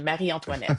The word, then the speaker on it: Marie Antoinette: The Marie Antoinette, that's how you pronounce it.